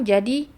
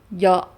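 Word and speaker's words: جَ: Jadi contoh ya, misalkan dia dibacanya fathah. Jadi jo, bukan ja, jo. Karena dia terlalu ke belakang.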